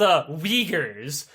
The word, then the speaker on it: Uyghur: You are just, they're called, Uyghurs. No, not spelled like you think they are. It's like W-H-U-G-E-R. Uyghur.